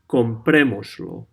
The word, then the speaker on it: comprémoslo: As you can see, we attach lo to the verb, and we put an accent on the third from last vowel.